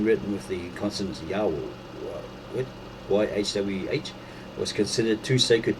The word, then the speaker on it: Jehovah: In course of time, the true pronunciation of the divine name, probably Yahweh, passed into oblivion, and YHWH was read with the intruded vowels, the vowels of an entirely different word, namely my Lord or God. In late medieval times, this mispronunciation became current as Jehovah.